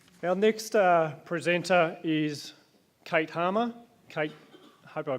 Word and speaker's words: Hamer: Our next presenter is Kate Harmer. Kate, I hope I pronounced it. Is it Harmer or Hammer? Hamer.